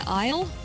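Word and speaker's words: aisle: Oh, so like isle and isle. Yeah, I believe I do pronounce it K the same way. I too pronounce them exactly the same.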